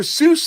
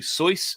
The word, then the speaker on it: Seuss: into all that the the way that it's pronounced is actually soy not seuss but that's another story